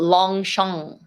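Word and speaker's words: Longchamp: But you know, when you Short, say the short, long, you don't say the G at the end. yeah, long Long shang, shang.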